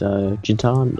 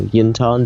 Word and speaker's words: Jin'Taan: Hello, yeah, my name is Jin'Taan, or Jin'Taan, depending on how you want to pronounce it, and I've done quite a lot of things over the past couple of years.